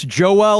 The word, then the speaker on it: Joel: Yes, Joel Which kind of sounds like Noel. Yeah. It kind of rhymes with Noel, Joel.